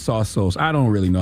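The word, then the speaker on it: Tsotsos: named philip sausos okay his name is pronounced t-s-o-t-s-o-s and according to uh the how to pronounce thing when you google it it's pronounced saw souls i don't really know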